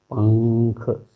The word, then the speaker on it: पंख: तो इसका जो उच्चारण हम करते हैं पंख, इस तरह से करते हैं। ये अनुस्वार का उच्चारण यहाँ बदल जाता है।